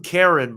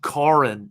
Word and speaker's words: Karen: the so car so I I called him Karen but it's actually kin in Armenian every time I called